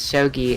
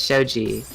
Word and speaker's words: shogi: is something that pees me the person who pronounces shogi as Shoji we're not we're not going back to this